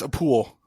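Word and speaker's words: Appule: That's a pool. It's spelled like apple, but there's a U in there.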